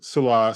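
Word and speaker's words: Saleh: Yeah, I learned Salah, the right pronunciation today. Salah.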